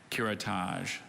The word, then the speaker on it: curettage: her skin lesion curettage could you repeat the pronunciations please curettage is just the one curettage did you read